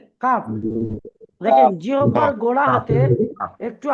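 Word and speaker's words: ق: তারপরে দেখেন কি আছে কাফ কি আছে কাফ দেখেন জিহ্বার গোড়া হাতে একটু আগে বাড়িয়ে তার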